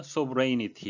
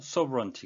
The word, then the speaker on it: sovereignty: 발음에 유의 하셔야 되는데 쏘 브레인이 t 이런식이 아니구요 서브 런 티 가 되겠습니다 컴프리 파워